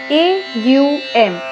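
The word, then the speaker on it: ॐ: Now when we say Om, we don't pronounce it as O-M, Om. We say it as A-U-M, Aum.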